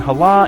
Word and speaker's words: Halah: Hala and Hore both start with the letter H, but this H actually has a diiocritic dot under it in both cases, indicating that it's supposed to be pronounced with a glottle scraping sound.